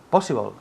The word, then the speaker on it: possible: Possible. Good, repeat. Possible. Good. Possible. Possible. Énfasis en la primera sílaba.